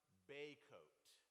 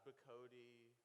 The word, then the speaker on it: Bacote: to pronouncing my name the first part is Bay like the Chesapeake Bay that's about 45 minutes from here right and the second part is coat like we have to wear because the weather has